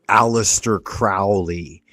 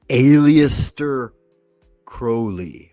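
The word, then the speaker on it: Aleister Crowley: It's not Alistister Crowley. It's aliester Crowley. Like holy.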